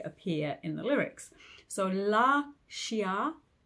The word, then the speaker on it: Lascia: we're going to go with those lovely open latinate vowels so um La Shia pianga so the beautiful thing about singing in Italian is the vowels don't really change and as long as